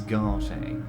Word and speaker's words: Garte: from a certain lawrence garter some people have no manners pains me to say oh so it's garter it's not guard okay so i've been